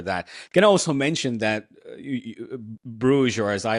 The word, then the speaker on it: Bruges: That can also mention that Bruges, or as I like to call them, Brugge. That's correct pronunciation.